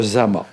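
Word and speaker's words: Dzama: Mais ça se prononce Zama, je l'ai appris dernièrement à Madagascar.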